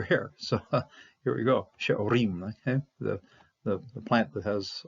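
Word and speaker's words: שְׂעֹרִים: okay, the harvest of she'orim, okay. She'orim. You're going to pronounce the Shabbat because it starts at the front. When it's at the front of a syllable, it's going to be pronounced.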